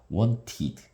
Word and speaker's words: wanted: 그래서 아 무성음일 땐 트 발음 무성음 유성음일 땐 드 발음 t나 d로 끝나는 경우는 이드 발음을 한다.